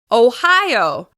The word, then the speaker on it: Ohio: Ohio. Ohio is stressed on the second syllable.